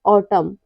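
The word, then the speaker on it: autumn: कब साइलेंट रहता है यदि किसी वर्ड में एम और एन दोनों साथ में आए तो एन हमेशा साइलेंट रहता है लेटर एम लेटर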